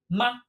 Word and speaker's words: 吗: looking at our last character in this set ma there we go pronunciation borrowed over however notice not has no